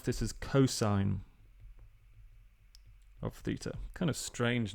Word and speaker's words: cos: So cos of theta, this thing here, you would pronounce this as cosine of theta.